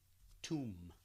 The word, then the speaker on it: tomb: If you don't have that kind of association, then probably tomb. Now, the B, excuse me, in this case, is silent, so I'm not going to use it.